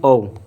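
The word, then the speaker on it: of: देखो ऑफ बोल रहा हूँ मैं, ऑफ नहीं बोल रहा हूँ, ये नहीं है, ये नहीं है, ऑफ नहीं है, ये है ओव। इसका प्रोनाउंसिएशन क्या होता है, औ होता है, ठीक है, औ प्रोनाउंसिएशन होता है।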